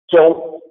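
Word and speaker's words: 中: And when you look at the pinyin, you may think that it's like, Kong, like the Gong Show, or King Kong, that it rhymes with that, or Hong Kong. That's not the way it sounds. That's not the way it actually sounds. It sounds more like zhong with the O sound.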